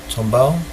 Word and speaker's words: Tombaugh: 18th of february 1930 clyde tombaugh that's how you pronounce his name tomball discovers pluto using a